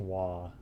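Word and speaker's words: は: And also, I mean, it's the ha hiragana, but it's pronounced wa.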